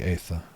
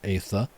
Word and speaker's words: aether: I saw questioning of my pronunciation of aether. Aether is still pronounced like ether, right, chat?